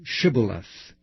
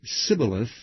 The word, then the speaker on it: shibboleth: said they unto him say now shibboleth and he said sybileth for he could not frame to pronounce it right then they took him